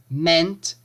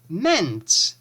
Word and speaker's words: meant: To mean, meant, meant. Notice the difference in the pronunciation. It's the same EA, but the pronunciation is different in the past simple and past participle.